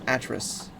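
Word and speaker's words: Atrus: calling him the reader his name is a trous rhymes with mattress I think so here's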